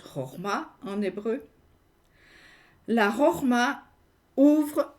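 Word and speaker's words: חכמה: Marc Alain Waknin dit de la sagesse, qui se prononce Chorma en hébreu, la Chorma ouvre au lieu de fermer, interroge au lieu de prouver, exprime une question au lieu de vouloir posséder.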